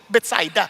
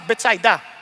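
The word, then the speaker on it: Bethsaida: Baka iba sa inyo mahigpit kayo sa English expression pronunciation sa English kasi beta pero sa Hebrew besets ay sa mga Hudyo betsida. Okay lang ha? Kaya huwag na kayong magtalo-talo diyan basta betsida.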